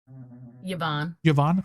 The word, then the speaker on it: Yvonne: The driver of the bus was identified as Yvonne. Okay, that's how you pronounce it.